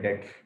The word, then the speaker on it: debts: हमारे पैसे न मर जाएं, इसको बोलते हैं, जो पैसे हमारे डूब जाते हैं उसको बोलते हैं बैड डेट्स। बैड डेट्स, बी is silent here, तो बी इज